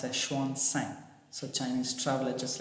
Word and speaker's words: Xuanzang: So Xuanzang, in our term we call him Huansang. So actually it's pronounced as Xuanzang.